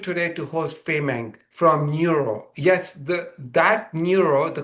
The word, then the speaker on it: Nuro: In fact the company's name neuro which is spelled nur o is actually an amalgamation of new robotics from the founders.